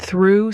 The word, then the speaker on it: through: Though has that o sound like in go, but through has the ooh sound like in food.